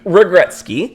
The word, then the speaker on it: Regretsky: Anyway, Regretsky. Yep. I hope I said that right. Yep. You absolutely did.